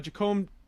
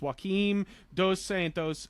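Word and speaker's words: Joaquim Dos Santos: well uh so uh jacombe I'm saying it wrong but I think it's Joachim dos Santos uh director of Voltron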